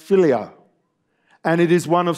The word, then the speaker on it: philia: as follow that follows the first part is pronounced philia and it is one of several words for